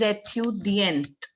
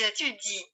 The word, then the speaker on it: étudient: Ils étudient. Now we'd never say ils étudient. We often make this mistake by speaking out ENT. But NT also remains silent. Listen to it again. Ils étudient.